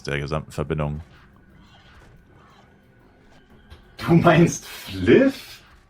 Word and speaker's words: Flyff: Du meinst Fliff? Er spricht man nicht F aus du Vollidiot. Das heißt Fliff Fly for fun.